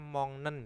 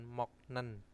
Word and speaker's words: 먹는: Bacanya mongnen ya, bukan moknen. Karena apa? Giok bertemu dengan yen, maka gioknya akan berubah menjadi eng.